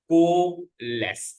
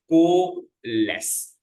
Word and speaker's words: coalesce: It is called as coalesce. I also studied the pronunciation for the same. It is coalesce.